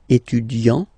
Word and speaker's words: étudiant: Okay, A-N-T, étudiant. Okay, but then for the feminine form, elle est étudiante. Okay, t. Okay, you don't really insist on the e, but you insist quite much on the t.